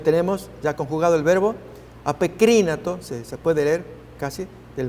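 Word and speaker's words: ἀπεκρίνατο: Allí apokrínato es la pronunciación de ese verbo.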